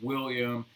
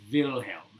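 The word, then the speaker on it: Wilhelm: whose name is yes if you're saying it in English its William but you're saying it in German it's Vilhelm Vilhelm the first alright ho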